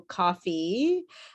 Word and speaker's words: coffee: here's my coffee so make sure you fully pronounce the e in coffee and you don't cut it off okay so coffee that you pronounce the